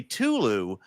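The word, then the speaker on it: Cthulhu: yeah now some because sometimes an AI will pronounce cthulu just completely wrong but sometimes it will say Tulu which is okay yeah and so I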